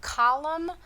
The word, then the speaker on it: column: So if you've got a word like autumn or column, That N is silent at the end, so it's really easy to forget it.